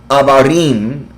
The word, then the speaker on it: Abarim: Abarim, del hebreo pronunciado Abarim, que significa más allá.